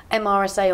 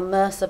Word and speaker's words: MRSA: blue on here is MRSA or merca bacteria depending on how you prefer to pronounce it um the little